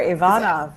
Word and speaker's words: Ivanov: You are Ivanov.